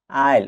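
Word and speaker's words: aisle: এস এলই আইল এখানেও S letter দিয়ে সাইলেন্ট থাকবে আইল মানে ছোটদ্বীপ এ আই এস এলই আইল অর্থ সরু যাতায়াতের পথ।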